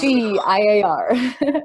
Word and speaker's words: CGIAR: And the third hat you're wearing is that you're working with CIGAR. Is it pronounced that way? Or is it, you'll tell us. CGIAR.